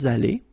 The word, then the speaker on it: allés: Nous sommes allés. You don't pronounce it. Okay, but you write it.